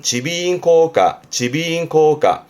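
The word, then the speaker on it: 耳鼻咽喉科: 발음은 지비인코가.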